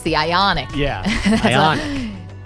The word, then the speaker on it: Ioniq: Yeah, Ionic. You put the emphasis on the wrong syllable. Yeah, it's not Dominique Wilkins. It's Ionic.